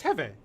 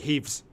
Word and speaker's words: Heve: It's Heve. Heve. What do you guys call it? They call it heaves.